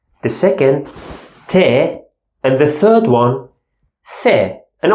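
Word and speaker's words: ت: two dots on top and we pronounce it te normal T sound in English te and the last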